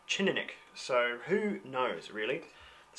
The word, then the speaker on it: Teaninich: I've had it from two completely different Scotsmen, two different pronunciations, and one began with a ch, more like a Teaninich, so who knows really.